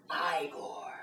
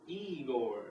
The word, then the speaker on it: Igor: ah master so you must be eore no it's pronounced igore well they told me it was pronounced eigor well they were wrong then weren't they anyway did you know